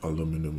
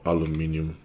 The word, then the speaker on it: aluminum: kind of like an aluminum or something or aluminium whichever way you want to pronounce it and the same with